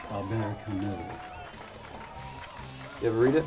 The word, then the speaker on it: Albert Camus: That's pronounced Albert Camus.